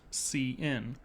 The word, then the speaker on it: cin: The name cin refers to the standard input stream, pronounced cin for character input, defined in the standard library.